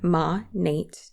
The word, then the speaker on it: Monat: Monat, which stands for modern nature, Monat.